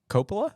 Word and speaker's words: Coppola: The Godfather, Part 1, directed by Francis Ford Coppola. Is that how you say it? Hey, Coppola?